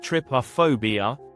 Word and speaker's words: Trypophobia: Trypophobia pronounced Trypophobia is an irrational aversion or repulsion to the